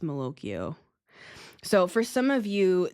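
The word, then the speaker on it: malocchio: This feels like Mokoio to me without without the Italian accent, right? But that's how it's pronounced. Mokio.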